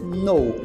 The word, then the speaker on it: know: o verbo to know lembra que a pronúncia aí desse k não existe tá então faz de conta que não existe o k e você pronuncia só a partir do n então a pronúncia vai ser no no to know ou seja